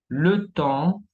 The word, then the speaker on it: temps: Ahora, lettre S muette, tenemos le bois, la madera, le temps, el tiempo, une fois, una vez.